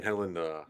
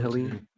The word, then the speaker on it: Helene: Wasn't it Helen? Helene? I think that's how you pronounce it. Helene. Hurricane Helene. Helene. Oh, yeah, it is Helene.